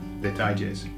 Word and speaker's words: detalles: Okay, so it's very similar to the word details, but the pronunciation, you've got to get a tie in the middle. So put a tie on it. Okay? Detalles.